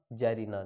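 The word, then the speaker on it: czarina: जार का जैरीना। देखिए सी silent रहेगा, ठीक है ना। सी जार नहीं बोलना, सी को साइलेंट रखना है इसमें।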